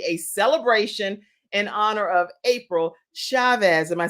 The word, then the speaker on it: April Chavez: And you guys, we are having the best time today because it is totally a celebration in honor of April Chavez.